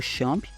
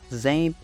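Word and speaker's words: XAMPP: e configurar o o servidor do shamp tá shamp zemp algumas pessoas também chamam de zemp né mas is é só pronúncias não vai eh afetar em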